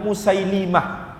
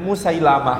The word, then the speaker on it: Musaylimah: musaylimah hai al-hanafi Hai jadi pelafalan yang betul menurut kitab al-asma' walau Kina adalah musaylimah dengan lam dikasroh sementara kalau saya ingat guru-guru saya dulu guru SD guru SMP membacanya Musailamah Hai kalau kita baca